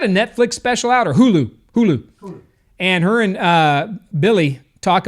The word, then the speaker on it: Hulu: I don't think it's Hulu. I think it's Ulu. The H is silent, right? Isn't that what they say? No, man. Dude, you're Hawaiian, dude. You're Hawaii. Ulu. Oh, that's right.